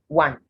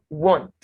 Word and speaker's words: want: squander quality quantity want so this word is not want want what was now when